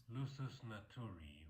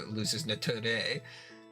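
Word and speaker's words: lusus naturae: Lusus naturi or naturae. Lusus naturi. Good lord. Naturi. Lusus naturi. That's how the guy on the internet says it is, and by God, that's where I'm going with it.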